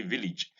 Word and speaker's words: village: And the A in village is village and not, it's E, not A. So we don't say village, we say village.